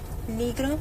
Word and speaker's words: Negro: don't know what is in in English but negro in Spanish o n r o okay mhm and don't it's her last name is pronounced negro it's n e g r o okay and